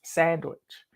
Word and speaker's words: sandwich: on the tomato sandwich Robert can't stand when people mispronounce sandwich it's got to have the D in it because his middle name